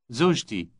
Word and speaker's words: زوجتي: زوجتي. زوجتي. Notice the similarity in pronunciation with my husband. The only difference is the T sound preceding the final possessive E ending.